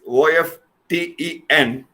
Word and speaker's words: often: T is not pronounced. There it is pronounced as often. But it's different in the US version.